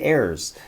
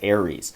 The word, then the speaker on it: Aries: it right that time i always say errors but everyone corrects me and says aries so if i switch